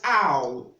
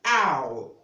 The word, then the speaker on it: owl: Now, the other one is O-double-L, and that's quite different because it's having a different pronunciation. So that is owl, owl. And owl is different from all.